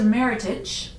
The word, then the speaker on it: Meritage: and this is a Meritage and you do say it like that meritage not meritage all fancy and french because it's a term that California winemakers come came up with and now we adopt